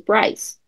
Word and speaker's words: Brice: But we live in an English named Bryce, my mother's maiden name with an I is Brice. It's French too. But they've been in America since the 1600s in an English settlement. So it over time evolved into the English pronunciation, which is Bryce.